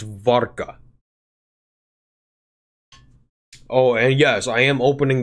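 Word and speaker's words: wódka: it's it's actually a V it's an it's pronounced of V so it's vodka oh yes I am opening the beer with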